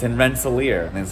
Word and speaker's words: Rensselaer: is actually not in albany it's called albany rensselaer that's how you pronounce it it's in rensselaer and that's how you pronounce it so that's